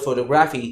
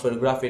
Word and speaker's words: photography: When you say the word photography, it's not photography, it is photography, you stress on TO.